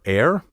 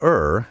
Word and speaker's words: err: a mistake do you air or do you er properly the verb to er spelled e-r-r should rhyme with sir not with hair dictionaries have recorded pronunciation